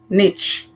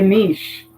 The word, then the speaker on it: niche: Americans say niche. We say niche.